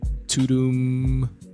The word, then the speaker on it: Tudum: And I literally just found for the first time as I'm recording this, and it's spelled Tudum. Tudum. After that sound that Netflix makes when you turn it on or press play on something, which is pretty dope.